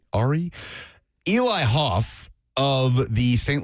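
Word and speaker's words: Arey: It's spelled A-R-E-Y, so Ari.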